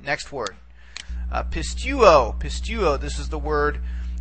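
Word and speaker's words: πιστεύω: We try to take it back and we realize, aha, the last syllable is an omega, which is a long vowel. Therefore, we only can go back one vowel from the nearest long vowel, okay?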